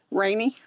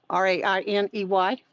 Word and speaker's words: Rainey: Lily Rainey, Rainey. Her name's Lily Ramey, Yes, like you. yes. So Lily Ramey, right? Did I say it right? Right. Rainey, Rain is in Nancy, EY. Rainey.